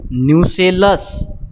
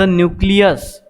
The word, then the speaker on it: nucellus: Placenta, फ्युनिकल, हायलम, outer integument, inner integument, न्यूसेलस, नॉट द न्यूक्लियस. खूप मुलं याच्यामध्ये रॉंग स्पेलिंग लिहितात, न्यूक्लियस लिहितात. इट इज नॉट द न्यूक्लियस, इट्स अ न्यूसेलस.